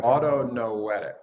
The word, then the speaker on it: autonoetic: Is that how I pronounce it? Autonomic or autonoetic.